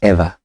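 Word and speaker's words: ERHVA: So the name of my agency is called Ever. Ever. And it's spelled E R H V E.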